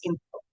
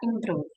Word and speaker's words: improve: She sound like improv, not improve. So she says improv instead of improve.